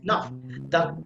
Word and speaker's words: enough: This a sound, like a sound, the short a, I mean the short vowel, that will be pronounced very softly, almost inaudible, okay? Like this, enough, because the enough, that is a stress sound.